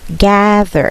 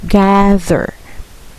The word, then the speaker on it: gather: gather good job okay gather okay the pronunciation is gab you're going to drop your jaw gather okay one more time